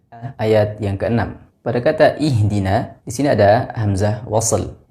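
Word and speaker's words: اهدنا: na perlu diperhatikan hati-hati pada pengucapan huruf nun di sini seringkali terbaca dengan tebal ihdin karena ada huruf Shad yang tebal setelahnya tapi dibaca dengan vokal na ih pada kata ada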